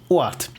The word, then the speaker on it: OadT: Okay, so pronunciation, it's German. O ganz normal und Ad wie in Stadt. So OadT. OadT.